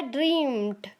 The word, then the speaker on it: dreamt: ड्रीम, इसका second form यानी कि V2 होगा ड्रीम्ड। DREAMT। DREAMT ड्रीम्ड। ड्रीम्ड pronunciation पर ध्यान दीजिएगा दोस्तों। ड्रीम्ड ऐसा होगा प्रोनाउंसिएशन इसका।